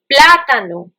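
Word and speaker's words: plátano: stay tuned and let's see how do we pronounce our fruits Apple mansana m a n z a n a banana platano p l a with a dash on the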